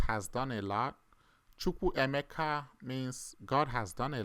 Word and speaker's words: Emeka: Some of you don't know how to pronounce my last name. Some say Chukwu Emeka, or some say Emeka, Ka. It's not Ka. It's like a rising tone. Emeka.